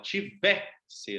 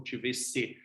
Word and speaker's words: tivesse: Então, você, mesmo que você tenha o tivesse, você fala tivesse, não tivesse.